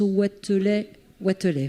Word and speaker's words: Watelet: Alors, voilà, d'abord, on prononce Watelet, voilà. Vous m'entendez avec le micro? Oui, bonjour à tous. Oui, effectivement, je suis Watelet, je suis médecin de santé publique.